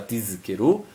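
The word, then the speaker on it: תזכרו: No Seif Yud Zain, Tzarich leatiz Zain shel tizkeru, devemos fazer uma ênfase no Zain da palavra tizkeru, Delon ishtama tizkeru, para não parecer outra palavra com sim.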